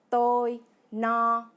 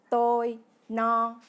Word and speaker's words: tôi no: À l'opposé, si vous avez bien mangé et que vous n'avez plus faim, vous dites tôi no, qui se prononce tôi no.